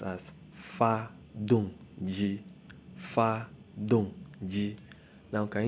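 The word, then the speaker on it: 发动机: Now, it is pronounced as fa dong ji.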